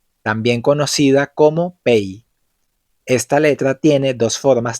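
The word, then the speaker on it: פ: P, también conocida como Pei. Esta letra tiene dos formas de pronunciarse. En algunas palabras suena exactamente como una P, pero en otras palabras se pronuncia como una F.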